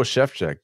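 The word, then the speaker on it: Szewczyk: surviving Gen X by this Joe chefj guy it's not the way you think it's spelled who yeah how do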